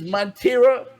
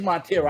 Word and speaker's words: Montero: up i hope i get it right it's montero it is montero i said it right i said it right